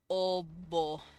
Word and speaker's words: Oba: Oba. Oba. Oba. Technically, that O in the middle would be pronounced a little bit with an oo sound.